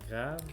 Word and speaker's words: Graves: Yeah, and the region we're sampling tonight is Grave, or Grave, say it properly, Grave.